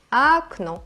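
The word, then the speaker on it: окно: algo como Oh no en ruso existe otra regla que dice que las o solo se pronuncian como o cuando están acentuadas Y en el caso contrario se pronuncia como a en este caso la primera vocal no está acentuada pero la segunda así entonces la primera vocal se escribe O pero se pronuncia a por lo tanto esta palabra se pronuncia agno te das cuenta que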